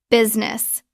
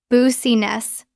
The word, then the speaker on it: business: We drop the I in the middle. It becomes two syllables.